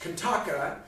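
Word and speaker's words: Qantaqa: And the wolf, Kantaka, on whom Binabik, Sid, as we say in America, and Binabik the troll rides, Kantaka, although it's spelled with Q's, Kantaka, Kantaka, was actually the name of the Buddha's horse.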